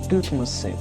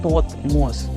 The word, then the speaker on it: Тутмос: Это мы по-русски почему-то произносим имя всей этой династии как Тутмосы, но правильно произносить Тотмос. Первый слог через О.